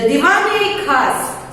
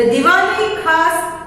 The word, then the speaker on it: Diwan-e-Khas: द दीवान-ए-खास, listen to the pronunciation correctly. The Diwan-e-Khas and Diwan-e-Aam are impressive buildings inside the Red Fort.